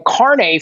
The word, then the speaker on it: carnet: a carne so a Carne is an beef not carne asada it's spelled c-a-r-n-e-t like think of Carnet but be like French and bougie with it incarnate so yeah like